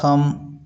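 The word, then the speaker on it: thumb: कॉम का spelling इस प्रकार से होता है। किंतु पढ़ते इस प्रकार से उसी प्रकार थंब थंब इसको अभी भी कई लोग थंब पढ़ते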